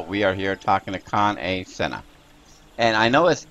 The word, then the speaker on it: Kan-E-Senna: but right now we are here talking to con a senha and I know as e but M is pronounced a so it's con come and you